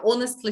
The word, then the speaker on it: honestly: a good phrase actually we don't pronounce h here yeah honestly speaking honestly speaking uh